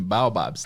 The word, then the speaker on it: baobabs: falar babs aobs baobabs então a gente vai pronunciar assim baobabs tá baobabs baobabs porque é o jeito mais parecido com o que ele pronuncia bom vamos pra parte